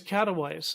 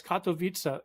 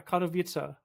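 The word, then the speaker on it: Katowice: This Katawise. Look at this city name here. K A T O W I C W I E. I found out later on it's Kato Vita. Yeah, Kado Vita.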